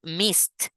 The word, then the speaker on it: missed: you get late then missed you see when you you pronounce this word you you use a t at the end because the Ed end so you say I